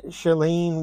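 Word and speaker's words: Shailene: bought it to catch a killer um sh shellene Woodley is how you pronounce her name Ben metalin metal sun I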